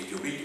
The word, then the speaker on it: Iturbide: également écrit au tableau, donc c'est Iturbide ou Iturbide, pour le prononcer à l'espagnol, et cet empire ne va durer qu'un an.